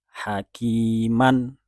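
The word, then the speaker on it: حكيما: Atau contoh lain, hakiman. Ketika diwakofkan, kita biasanya tahu dan membacanya dengan sempurna hakima. Man diwakofkan menjadi ma 2 harokat.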